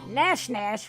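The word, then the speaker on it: Gnash Gnash: Nash Nash with a silent G.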